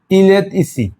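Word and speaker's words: il est ici: তাহলে এখানে টি আছে, এখানে ই আছে, তাহলে এটা উচ্চারণটা কি হবে? এই ইল এত ইসি, ইলেত ইসি, ইলেত ইসি, অর্থাৎ সে হয় এখানে দেখেন ইলেত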